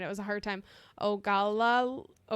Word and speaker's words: Ogallala: Ogallala. Ogallala. Ogallala. Ogallala? Sure. Spell it again.